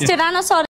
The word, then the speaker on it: Tyrannosaurus: please say it correctly it's seriously it is Tyrannosaurus oh and this is a Rex sorry whether